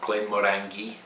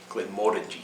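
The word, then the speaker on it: Glenmorangie: where glenn moringe is it's not glenn murangy which you often hear it's glenn moore and g glenn moringe so more orangey we think more orange number twelve uh kilhaumen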